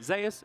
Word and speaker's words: Zeus: Kean dashing on forward snipping up Zeus here just a little bit or Zas as we pronounce it yeah there was